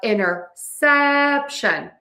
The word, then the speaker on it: interception: The bigger point here that you need to remember is syllable stress. You need to stress the sap towards the end of that word. So we have interception.